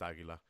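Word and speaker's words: Águila: Yeah, I wasn't sure if there was I always said Aguila, but I wasn't sure if there was like more of like a Spanish way of pronouncing that. But Yeah, it's just Aguila.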